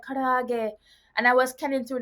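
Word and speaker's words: karaage: Okay, so I my favorite Japanese food right now is karage. So like I pronounce words with R like L because in Japanese there is no R sound.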